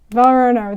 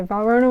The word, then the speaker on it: Valrhona: Belle rata roughed your pets start with the pronunciations okay Varner that's what we're going to talk about today Verona was founded in 1922 it's a French Chocolate